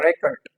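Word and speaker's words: record: आएगा स्ट्रेस आएगा ओके तो ये क्या होगा रेकॉर्ड रेकॉर्ड रेकॉर्ड okay and when it इज a verb तो क्या आएगा सेकंड सिलेबल प आपका इस पे स्ट्रेस आएगा तो कैसे ये प्रोनाउंस होगा रिकॉर्ड रिकॉर्ड रिकॉर्ड इज a verb रेकॉर्ड इज a noun like wise we have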